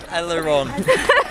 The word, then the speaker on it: Elleron: Elleron. What's your name? Elleron. Is there a T at the end? His name is a French accent. It's the way it's pronounced.